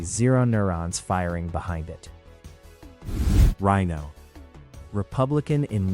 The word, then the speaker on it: RINO: Let's talk about rhino. Pronounced like the animal.